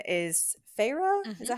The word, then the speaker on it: Feyre: end up finding out that her name is FAA is that how you pronounce it okay that's what I thought that's